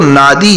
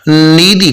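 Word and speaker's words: Nadi: بڑا شہر نادی ہے، جو لکھا تو نادی جاتا ہے مگر جہاں کے لوگ اس کا تلفظ نیدی کرتے ہیں۔ نادی میں بڑا بین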